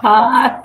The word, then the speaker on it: Thoth: we were debating this, is it Toth or Thoth? Thoth, yeah. Everybody has a different take on the pronunciation.